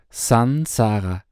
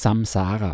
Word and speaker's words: Saṃsāra: Zuallererst: Die korrekte Aussprache ist "Sansara", "s-a-n" und nicht "s-a-m". Viele Leute sprechen es "Samsara" aus. Das ist ein Fehler, der auf der Übetragung der Sanskrit-Buchstaben in europäische Buchstaben basiert.